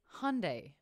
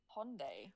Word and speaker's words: Hyundai: In America, it's Hyundai. Hyundai? Rhymes with Sunday.